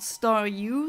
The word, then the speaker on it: Staryu: yes in German fittingly in English it's called star U so star and U and in German it's